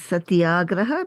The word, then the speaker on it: Satyagraha: So Satyagraha is made up of two words: Satya, which is truth, and Agraha, which is firmness. That's why the correct way to pronounce this is Satyagraha, because when you combine a plus a, you get a in Sanskrit.